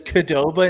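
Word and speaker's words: Qdoba: Truthfully, I was hoping that you were on the side of everyone who says Kadoba instead of Qoba.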